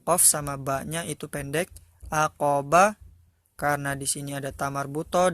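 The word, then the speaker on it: عقبة: kan tapi sukun Kanya bukan huruf ta bukan menjadi huruf ta acrobats bukan tetapi aqabah Jadi huruf a huruf h-nya kalau kita sukun kan Hai nah Oke selanjutnya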